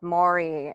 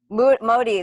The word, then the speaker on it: Modi: India right now with Maurey what am i I'm saying his name wrong Prime Minister Modi that's right yeah Marty yeah I